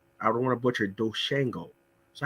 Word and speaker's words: DoShanko: your nickname is i don't want to butcher doshango so how did you get that name yep um so um i know i pronounce it as doshanko okay yeah yeah it has a bit more